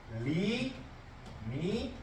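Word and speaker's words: lim: 자, 극한의 개념, 극한의 기호는 L, I, M 이렇게 쓰고 읽을 때 리미트라고 읽으면 돼.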